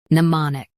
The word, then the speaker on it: mnemonic: US uses ma. UK uses mon. Don't flatten the middle.